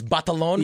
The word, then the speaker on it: Batalon: It's Batalon. Yes. Like, the actual pronunciation.